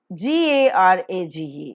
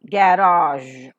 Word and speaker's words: garage: Normally, Indian pronunciation is prestige. So, just give it a thought, it is prestige. G-A-R-A-G-E, garage, garage.